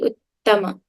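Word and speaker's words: उत्तम: So you say uttama, right? In Sanskrit, we have to pronounce both the T's. They're not redundant.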